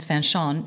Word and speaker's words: Fanchon: But yeah, Fanchon is just how my parents pronounced it.